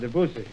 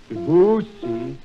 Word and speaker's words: Debussy: nice title for a number by Claude Debussy. Now, may I tell you how to pronounce Debussy's name?